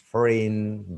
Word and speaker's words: foreign: Foreign, G isn't pronounced.